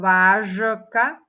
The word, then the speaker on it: vážka: vyslovila som ho ako vážka alebo vážka ako ho vyslovuje ty vyslovujeme ho ako vážka čiže píšeme ho zo ž ale čítame a vyslovujeme ho s š Ťažko sa mi to